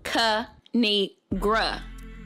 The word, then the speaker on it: Kinigra: me tell y'all a thing of three it's pronounced Ka ni gra now subscribe oh I cracked myself up thanks